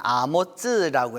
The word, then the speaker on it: 아모츠: 근데 거기는 아모츠라고 해서 히브리어로는 그 발음이 이게 다릅니다.